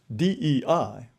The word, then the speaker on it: DEI: The initials DEI, pronounced Dei, mean God in Latin, and DEI is the guiding deity of the United States.